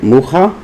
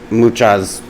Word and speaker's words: Mucha: I'm pretty sure that's how you say it, Mucha, because he was from the Czech Republic.